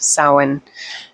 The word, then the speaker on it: Samhain: i said samhain earlier it's apparently it is pronounced samhain and uh yeah the key word is death